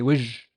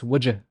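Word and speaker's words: وجه: I don't say wajah, I say wij, wij, as face. In MSA, it's wajah, wajah, but in my dialect, I say wij, wijjo.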